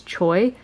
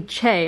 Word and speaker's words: Choi: it's romanized that's how that's how you would say it in English is Choi but it's actually Che and I'm just surprised